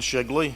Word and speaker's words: Shigley: My name is Shigley. It's a funny name at the bottom of the alphabet, rhymes with Piggly Wiggly.